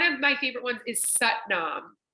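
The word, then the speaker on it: Sat Nam: my favorite ones is satnam satnam it rhymes with butt mom and it means I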